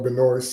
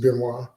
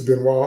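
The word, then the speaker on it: Benoist: I refuse to call her Benoys because the proper pronunciation of her name is Benois. Uh, Melissa Benwis on the Supergirl show and the Superman and Lois show.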